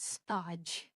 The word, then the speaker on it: stage: So the way you pronounce it is stage, but the way it's spelled is stage.